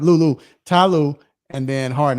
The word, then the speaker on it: Lue: Yeah, Lou. I said it right. Lou.